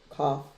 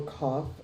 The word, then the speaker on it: Kaph: uh the name of the letter which is half or cough that's the way to pronounce it we see it by